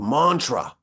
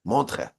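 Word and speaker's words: Montreux: in a place called Mantra it's spelled with like e and U's and X's but that's silent monre I think is how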